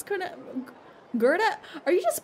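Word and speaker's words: Goethe: the Gera Grand Hotel Gera I've been pronouncing it so wrong I said go goth instead it's what what now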